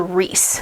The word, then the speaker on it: Rhys: But I think I looked in the back in the glossary and it's pronounced Rhysand. And it's shortened to Rhys.